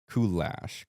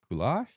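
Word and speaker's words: Kulash: We have a very special guest today, a real celebrity, Damian Koulash. Koulash. I accept both. Apparently I when people ask me, I say Koulash.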